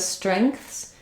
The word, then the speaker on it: strengths: of these words so same thing with strengths it's just perhaps a little harder because we also have the Str Str blend here at the beginning so you may want to build it without the St at first like rang rank rank ranks and then strengths strengths depends on where the difficulty is for you some people um the